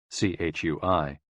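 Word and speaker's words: 吹: Chui, pronounced like chui, with a forceful exhale, which is also associated with the kidneys.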